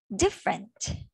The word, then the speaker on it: different: Do not read the E, it's a silent E. Different.